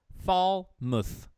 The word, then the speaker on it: Falmouth: It's Falmouth. Falmouth? Oh, okay. I apologize. Yeah, F-A-L. Falmouth. Falmouth.